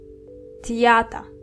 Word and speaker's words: Theater: Das Theater. So it's written just like the English word, but the pronunciation here is different. TH in German are still T and not the, just like English.